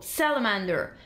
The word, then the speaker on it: salamander: 34 is salamander salamander the stress is on the first syllable salamander samantha 36 is easy